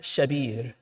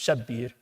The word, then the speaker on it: Shabir: he says Shabbar and Shabir. That's the Arabic pronunciation of it. They're Hebrew words. Shabbar and Shabir. We put a shadda on it in Urdu and Farsi. It becomes Shabbir.